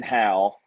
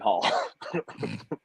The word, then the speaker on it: Hale: So the announcer, which was the promoter's wife, so she announced me as Landon Hale. and then the second time when I came out to fight, she pronounced me as Landon Hall.